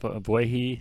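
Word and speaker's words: Ogbuehi: Obuehi, that is how you say it.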